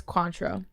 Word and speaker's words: Cointreau: um what flavor is Cointreau Cointreau X fruity spell it c-o-i-n oh it's orange yeah is that how you say it Quant yeah that's pretty pretty close I've never had it